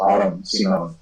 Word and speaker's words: Adam Simon: My name is spelled Adam Simon. It's pronounced Autumn Simone, and Autumn is a sort of vaguely Germanic, Hebraic pronunciation of Adam, which is, of course, a character central to our whole gang over here. And I don't know, Simone is like a strange Spanish, the Filipino pronunciation of Simon.